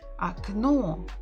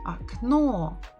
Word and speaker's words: окно: Окно. Окно. The stress is on the final syllable.